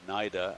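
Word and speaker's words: cnida: a 90 with a it's spelled c-n-i-d-a for the singular naida and we'll add an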